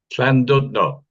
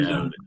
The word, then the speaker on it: Llandudno: Llandudno. And it's a CL sound, correct? The double It's a L? CL, yeah, or KL, Clandudno.